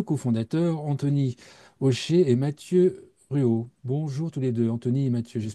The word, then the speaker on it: Ruault: Anthony Aucher et Mathieu Ruot. Bonjour tous les deux, Anthony et Mathieu. J'espère qu'on ne prononce pas le T, on ne dit pas Ruot.